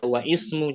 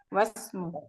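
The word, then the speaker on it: وَاسْمُ: Hanya ditulis saja tapi pengucapannya jangan dibaca wa ismu, jangan ya. Oh, wasmu. Langsung wasmu, wa benu. Jangan wa ibnu, wa benu langsung.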